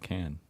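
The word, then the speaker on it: Cannes: film festival uh which people here told me oh it's Khan you have to be all fancy and say it like that but then I went there and then the French call it can and anyway so yeah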